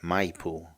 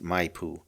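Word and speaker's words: Maipú: to their residence at Mipoo. Okay, it's spelled M A I P U. And I think it's pronounced Mayoo.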